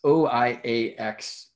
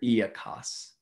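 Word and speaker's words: οἴαξ: in the day, it's O-I-A-X. Although the Greek letters would be pronounced differently than that, right? And depending on the era of Greek, I understand this is either pronounced oiax or iakos.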